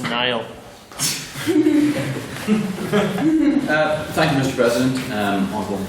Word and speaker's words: Neal: It's pronounced Nile.